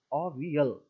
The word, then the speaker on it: Avial: He named it ओवियल, AVIAL, ओवियल, pronunciation ओवियल, ठीक है, ओवियल।